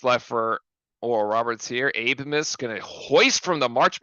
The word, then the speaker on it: Abmas: Abe Miss. It's pronounced Abe-Miss. Okay, not Abmas.